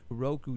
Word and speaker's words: Roku: on R crew R crew how do you pronounce Ru Roku now do you have to purchase something in